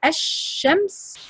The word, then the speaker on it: الشمس: But if you say الشمس you don't pronounce the لام.